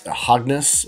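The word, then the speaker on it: ἁγνός: and the term pure is the term it's hogness is how you pronounce it it means innocent unspoiled pure what's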